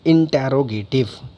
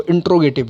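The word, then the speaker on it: interrogative: नाउ we will move towards next one, that is इंटरोगेटिव। कुछ लोग इसको इंट्रोगेटिव बोलते हैं, that is नॉट the right pronunciation. क्या बोलेंगे आप इसको? इंटरोगेटिव।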